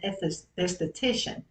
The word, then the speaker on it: esthetician: A friend of mine, Carol O'Malley, lives in Charlotte, North Carolina, and she's an esthetician. Did I pronounce that correctly?